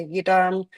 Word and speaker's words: yidam: And so here it says, I appear as the Yidam deity Chakrasambhara. There are many different Yidam deities. And so yidam, the term itself, so yi and dam, so two syllables.